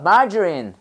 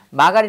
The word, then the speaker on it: margarine: 그 다음에 우리는 마가린이라고 하는데 margarine 해봐 margarine. margarine. 마가린 아니고 뭐래? 이게 저로 발음 나요. 해봐, margarine, margarine, 마가린 아니다, margarine, 해봐, margarine.